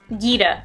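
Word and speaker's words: Geeta: Gita. I want to assume that it's pronounced Gita because it's two E's, so Miss Gita, chairwoman of the Pokemon League.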